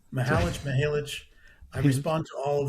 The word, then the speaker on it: Mihalich: So, to talk about Dad's Hat Rye, Mountain Laurel Spirits in Pennsylvania, welcome, Mihalich. Damn, I did it. You're absolutely fine. It's Mihalich.